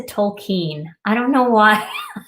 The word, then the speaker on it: Tolkien: to law school and I've been saying this man's name wrong my entire life it's by j.r.r tolkien listen tokine I don't know why